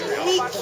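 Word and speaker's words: Νίκη: The Greek word is Nike. We don't pronounce I, we pronounce E, no?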